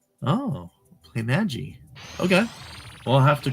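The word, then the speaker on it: Playmaji: about how to pronounce our company name it's play Magi right just am I pronouncing it correct you did great play m g oh play Magi okay well I have to correct that at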